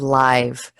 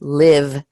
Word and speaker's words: live: life live and so as an adjective live this word also as you know can be pronounced live as a verb like I live in the United States so we have life